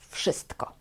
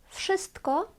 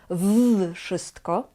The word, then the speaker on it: wszystko: Zaczynamy od słowa wszystko. Wszystko to znaczy albo everything, albo all. Ważna informacja jest taka, że tutaj wymawiamy w jak f. Wszystko. Wszystko. Nie mówimy w wszystko.